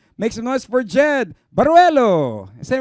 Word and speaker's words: Baruelo: This time around, we got singer and guitarist Jed Baruelo.